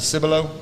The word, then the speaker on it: Cibolo: Is it Cibolo?